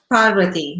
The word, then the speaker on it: Parvati: The story of Parvati, is that how you pronounce her, the goddess? Parvati, yeah.